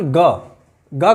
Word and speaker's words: गंगा: गंगा, अनुस्वार के बाद ग है, तो यहाँ पर हम देखेंगे कि ग से पहले अनुस्वार जो है उसकी आवाज़ ग के पंचम वर्ण, ग जिस वर्ग में है उस वर्ग का पंचम वर्ण ङ है, तो यहाँ पर ङ की आवाज़ निकल रही है।